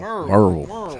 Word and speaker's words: Maryville: Barber Broadway says Maryville High School rules, but they spelled it Murvul. Merville. That's how it's pronounced around here.